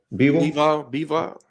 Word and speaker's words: Bivol: Bivol. Yeah, Bivol are possible opponents for November.